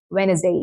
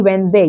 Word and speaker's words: Wednesday: It's simply Wednesday. You don't pronounce it this this part you don't pronounce. Okay. It's simply Wednesday. Wednesday. You don't pronounce D. You don't pronounce E. It's simply Wednesday.